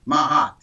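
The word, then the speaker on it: Maat: spirituality is the concept of mahat MH it it's spelled m a a t mahat that that that is the original concept of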